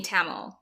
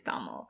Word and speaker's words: Tamil: African Indians we are we've grown up saying taml but I know that the right pronunciation is taml and sometimes I get